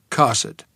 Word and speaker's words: Kossuth: to ask directions to Kossuth Street, pronounced Cosset.